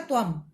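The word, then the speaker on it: त्वम्: बच्चों, जिस भी शब्द के ऊपर बिंदी होती है आखिरी शब्द के ऊपर, उसका अर्थ होता है म। तो यहां मैं अगर बोल रही हूँ त्व, तो ये इसका उच्चारण बनेगा त्वम।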